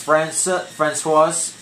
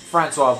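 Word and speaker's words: François: Tomorrow's gonna be Ryan Fester versus Stephen Gray versus Francis Barcombe. Francois Barcombe. I think I pronounced that wrong, but I pronounced it right the second try.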